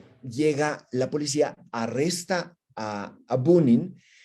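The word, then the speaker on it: Пунин: Se llamaba Bunin o Punin. La P se pronuncia mucho como B.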